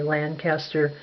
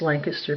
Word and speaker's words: Lancaster: So, if you look up Quiet Places in Lancaster, Pennsylvania, that's how we pronounce it back there. We don't say Lancaster the way they do in the East. It's Lancaster, Pennsylvania. They announced it every day